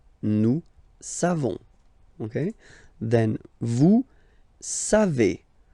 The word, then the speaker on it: savez: Then vous savez. Classic ending for vous, E-Z, but then phonetically it's E. Vous savez. Savez.